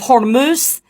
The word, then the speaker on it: Hormuz: But just to let you know, Farmer Lance, it is pronounced the Strait of Hormuz.